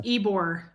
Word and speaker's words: Ybor: It's pronounced Ybor.